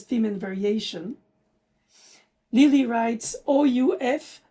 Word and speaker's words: ouf: Lili writes OUF, 3 points of exclamation, pronounced in French, ouf, which is an exclamation style of a sigh, of relief.